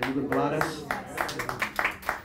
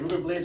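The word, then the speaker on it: Rubén Blades: Blades, or people say Ruben Blades. How do you say it, Ruben Blades or Ruben Blades? He says both. He says both.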